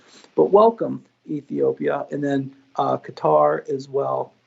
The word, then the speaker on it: Qatar: And then Qatar as well. Sorry, Qatar is ready. That's how you say it correctly, my bad.